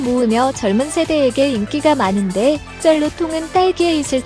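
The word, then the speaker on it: 真露: 쩔루는 참이슬의 중국어 발음입니다.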